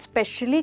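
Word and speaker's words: especially: किसी काम को बहुत स्पेशली करें तो उसको आप कहेंगे स्पेशली, राइट, स्पेशली। तो दोस्तों यहाँ पे ध्यान दीजिए, इसको हम स से शुरू नहीं कर रहे बट ई से शुरू कर रहे हैं।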